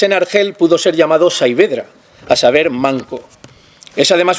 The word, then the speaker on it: Saavedra: investigadores que dicen que viene de un dialecto árabe magrebí y se pronuncia casi como en español sabedra y significa brazo tullido o estropeado por lo que Cervantes en argel pudo ser llamado savedra a saber manco es